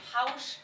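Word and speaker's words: haux: what that prayer whatever you're saying is it house house house house so it's spelled h a u x okay and then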